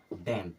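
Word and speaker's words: damn: आया मतलब ए खत्म और इसे पढ़ते हैं डैम क्या पढ़ते हैं डम कभी भी एम के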